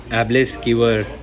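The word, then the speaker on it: æbleskiver: नाम प्रोनाउंस करना इतना मुश्किल है. 3 Danish style एबलेस कीवर मे बी शायद ये इनका फेमस है.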